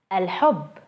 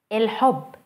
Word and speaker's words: الحب: Let's see the word the love as an example. الحب, الحب, الحب. Notice the difference between al and il.